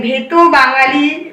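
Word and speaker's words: ভেতো বাঙালি: भेतो बांगाली मतलब कि इसका प्रोनाउंसिएशन है भेतो बांगाली।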